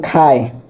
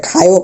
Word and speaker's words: খায়: যেমন আমরা দেখছিলাম, যেমন খায়, এটা খায়ও, খায়ও বলতে পারবো না, যদি খায়ও বলি তাহলে আমাদের ভুল, শুধু হবে খায়।